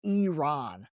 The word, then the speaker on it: Iran: And then the last one is Iran. By the way, another little tip for you. So Iran is actually pronounced Iran. So pronounce it with the E, Iran.